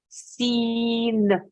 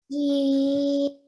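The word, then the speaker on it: سين: But when you make the noon sound at the end, okay, keep your tongue on the top of your mouth. Okay, don't flick it off. So one more time. Seen. Sin.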